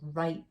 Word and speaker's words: write: letter like i can write a story okay w is silent wr right go right to the r r rack so if